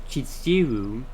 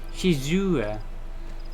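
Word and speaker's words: Shizuru: them warn me that the name of the goddess is actually spelled and pronounced shizura and that misspelling it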